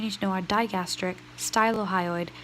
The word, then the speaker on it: stylohyoid: The 4 suprahyoid muscles you need to know are digastric, stylohyoid, stylo rhymes with mylo, so mylohyoid, and Gino Hyoid.